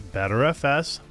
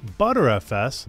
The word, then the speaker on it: Btrfs: hell is butter FS so btrfs or pronounced as better FS butter FS BFS or BFS is a computer storage